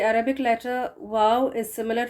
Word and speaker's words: و: The correct pronunciation of the Arabic letter wow is similar to the English word वाव, जो हम excitement में बोल देते हैं ना, वाव, इस तरह से।